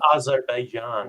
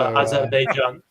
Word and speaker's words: Azerbaijan: it's in Azerbaijan. Wow. Thanks for that. Thanks for time zones. Is that how you pronounce it? Bobby, you're our resident ethnic man. So, Azerbaijan.